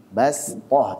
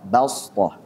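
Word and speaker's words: بسطة: Ini nanti di riwayat Hafiz an Asim juga, tapi dari jalur Thayyibatun Nashr. Ini dibacanya dengan shad. Bastoh. Kalau yang jalur Syatibiyah yang biasa kita baca bastoh pakai sin.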